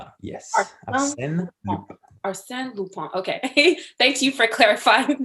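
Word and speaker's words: Arsène Lupin: famous french adventure series arsene lupon am i pronouncing that right yes or sam lupone okay thank you for clarifying that for me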